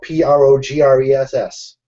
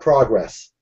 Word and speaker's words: Progress: And there's a town right next to Harrisburg called, spelled Progress. Progress. Progress. Not progress. Progress. And if you pronounce it wrong, everybody will get angry.